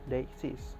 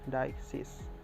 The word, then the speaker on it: deixis: of dexes the nondexes is pronounced they exist or dioxis as its origin from the